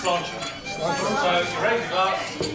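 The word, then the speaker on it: sláinte: Okay, so it's spelled S-L-A-I-N-T-E. You'll see it written down, but it's pronounced as though it's got a C-H in it, so it's pronounced slauncher.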